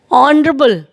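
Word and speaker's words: honorable: सब एच से शुरू हो रहे हैं, एच is consonant, but honest there pronunciation is honest, ऑनरेबल, historical.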